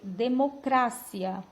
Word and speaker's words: democracia: a pronúncia é democracia em espanhol a sílaba tônica muda ela já é claro a sílaba cra e a pronúncia vai mudar também vai ser democracia português sílaba tônica cia